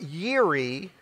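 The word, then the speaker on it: Jireh: him a name Jehovah yiri j-i-r-e-h j-i-r-e-h it's pronounced Yuri Jehovah Yuri was pronounced to Moses when God provided for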